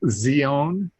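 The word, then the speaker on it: Σιών: but pronounce it uh-huh in hebrew it's a t z sound uh so it's zeon uh but uh pretty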